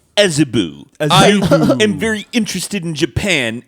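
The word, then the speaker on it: Azabu: expensive is this place called a tsuba probably pronounced as Abu as Abu possible as Abu as Abu I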